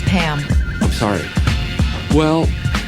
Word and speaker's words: Pam: and large Med resources Lady it's actually it's Pam I'm sorry well pan no my name is Pam I thought you